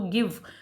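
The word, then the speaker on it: give: जैसे for example इसमें देखो गिव, तो गिव ई साउंड बोल नहीं रहे हैं तो हम लिखते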